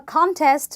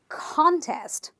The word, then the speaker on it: contest: two syllable word and because it is a noun I am going to stress syllable number one so I will say contest I can't say contest if I'm talking about